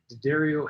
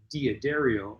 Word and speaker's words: D'Addario: How many people pronounce it D'Addario, and how many pronounce it D'Addario? For my entire life, I pronounced it D'Addario, and apparently I was wrong.